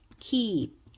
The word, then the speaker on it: keep: 그래서 요 위에 발음은 킨 아니고 킨 이렇게 길게 쓰시면 되고 밑에 있는 건 keep 아니고 keep 이렇게 길게 쓰면 됩니다.